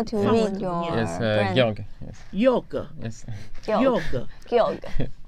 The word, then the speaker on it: Georg: George 是他的姓叫做 Georg。哦，怎么念？How to read your yes, Georg. Yoga.